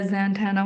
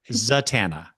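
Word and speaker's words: Zatanna: Zatana. Zatana. I don't know why I've always said it Zantana.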